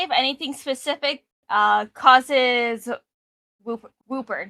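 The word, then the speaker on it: Wooper: It's hard to say if anything specific causes Whooper, not Whopper.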